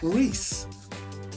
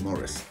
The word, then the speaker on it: Maurice: Maurice Maurice I say Morris Maurice morce well obviously there's only one correct pronunciation and that is Morris or Maurice take your pick honestly well it depends